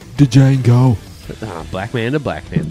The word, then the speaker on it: Django: Just like Django Unchained, where the D's silent. The Django.